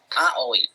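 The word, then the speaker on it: あおい: Jadi ini dibacanya A, ini dibacanya O, dan ini dibacanya I. Jadi, ya. Jadi Aoi, Aoi, Aoi.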